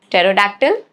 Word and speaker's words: pterodactyl: Rule number 1, it is silent in the combinations PS, PT and PN at the beginning of the words, okay, like psychology, pterodactyl, pneumonia, okay, these three words.